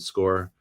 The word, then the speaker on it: SCOIR: It could be something called Score or Squire, but I pronounce it Score, SCOIR.